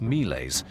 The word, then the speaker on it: miles: refers to him using the Latin word for Soldier miles pronounced melees rather than calling him